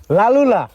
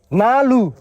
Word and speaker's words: লালু: কি বলল লালু ভাই লালুলা নালু আমার নাম হলো লালু আপনি সোজাই বলেন লালু লালু বলে হবে না আবার বলেন দেখি লালু